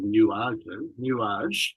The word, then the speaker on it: nuage: that the new poems you call nuage, I believe it's pronounced, which is a French word for clouds, but also the name